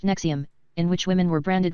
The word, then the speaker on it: NXIVM: Ronnie air of running a cult-like secret society within his organization whose if pronounced nexium in which women were branded with his initials